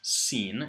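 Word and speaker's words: سين: next letter which is scen it's pronounced like the English s and connects so it's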